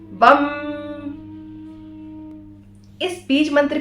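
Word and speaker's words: वं: करना है, यानी कि आपको म के उच्चारण पे ज्यादा फोकस देना है। आपको इसको ऐसे चैंट करना है, वम वम वम।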